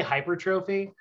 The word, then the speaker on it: hypertrophy: You can say hypertrophy.